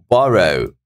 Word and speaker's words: borrow: And then borrow, borrow, borrow. First syllable.